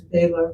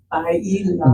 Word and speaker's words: bailar: I learned it as Baylor, but okay. Bailar.